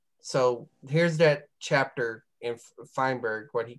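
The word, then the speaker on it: Feinberg: issue as well so I was saying freeberg but this is fineberg I think is how you say it so from these six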